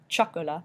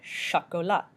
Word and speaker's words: chocolat: means pickle and french choco la sha Cola not Chocula but shot go luck meaning chocolate of course